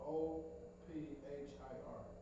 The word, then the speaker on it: Ophir: No, Ophir. Old fire? Oh, Hot fire? spell it again.